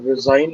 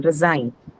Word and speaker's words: resign: So where would The be the second stress? syllable. it's verb. Second syllable. Second Sign. syllable. Sign. Verb, so second syllable. Resign.